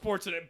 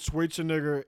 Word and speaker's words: Schwarzenegger: Like find Arnold Schwarzenegger, be him.